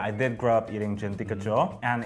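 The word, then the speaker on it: Djenti kacho: So it's spelled D-J-E-N-T-I and K-A-C-H-O. I want to say Gentika. Pretty good. Gentika.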